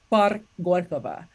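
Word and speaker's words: Парк Горького: worked on my pronunciation, learning how to pronounce things like Gorky Park is in Russian is Park Gorkova.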